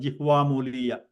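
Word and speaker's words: जिह्वामूलीय: Okay, so that sound is called jihvamuliya. So visarga is also, when it is followed by ka and kha, it is pronounced by like kind of sound, like a throat clearing kind of sound.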